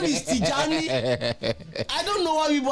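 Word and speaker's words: Tijani: They tell you to pronounce his name. That's what the team does. And I heard his name is Tjani.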